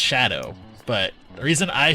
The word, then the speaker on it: DJ Shadow: We keep saying Shido, but I know it's pronounced Shadow, but the reason I